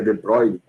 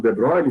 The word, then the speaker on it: de Broglie: Em 1924, mais ou menos, um maluco chamado de Broglie, ou de Broglie, acho que a pronúncia certa em francês é de Broglie, ele começou a tentar